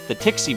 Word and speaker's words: Tixie: Yeah, I guess the Tixie branch, which I mispronounced as, I think, Tiski branch back in the Blue playthrough, but they have branches all over the world, I guess.